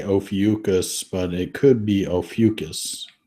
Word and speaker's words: Ophiuchus: I think it's pronounced, I say Ophiuchus, but it could be Ophiuchus.